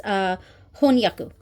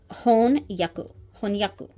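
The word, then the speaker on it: 翻訳: It's honyaku. Honyaku. Yes, honyaku.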